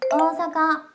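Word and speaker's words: 大阪: 또 오사카라고 하면 여러분 오사카가 아닌 거 우리반 사람들은 알죠? 오오사카라고 써요. 일본에서는. 오사카라고 발음하고 어사카 어사카라고 하고 도쿄도 사실은 토 으 쿄 으라고 쓰고 끌어 줘요.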